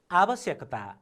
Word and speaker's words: आवश्यकता: आवश्यकता, आवश्यकता, आवश्यकता। हेर्नुहोस् त, हामीले वर्णलाई पनि ख्याल गर्नुपर्छ। व वर्ण लेखियो, मैले भर्खरै पनि भने, तर उच्चारण ब वर्ण। आवश्यकता व वर्ण छ तर उच्चारणमा ब वर्ण।